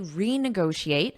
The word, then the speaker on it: renegotiate: were able to successfully renegotiate so when you add re before the verb notice that pronunciation it's a strong e re renegotiate and it means to